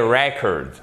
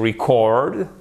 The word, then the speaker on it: record: Et vous avez, vous voyez ici en phonétique, vous avez l'apostrophe qui indique ici que l'accent tonique est sur la première syllabe. A record. Et to record, c'est enregistré. Mais là, l'accent tonique est sur la seconde syllabe pour un mot qui